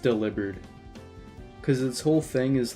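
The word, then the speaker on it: Delibird: like delivering presence so it would just make more sense if it was pronounced delivered like delivering so I I call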